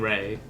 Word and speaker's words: Ray: gonna say it, because we've been all saying Ray, and that's basically how most people in the West say it, which is he even says is actually a perfectly fine pronunciation.